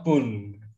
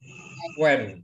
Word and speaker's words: Punt: The Land of Pun. Sebenarnya bacanya adalah tanah Puen, ya. Bukan pun bacanya, tapi puen.